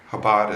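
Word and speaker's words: Chabad: the habad luit movement habad is C is spelled with a CH everyone should know about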